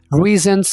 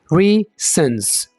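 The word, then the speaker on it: raisins: तरह परिणाम नहीं करना आप कैसे बोलेंगे रईसों रीजंस यहां पर आपने एस की साउंड को लेकर आना आप ऐसे नहीं बोलेंगे रिंस गलत होगा ये रीजंस ठीक है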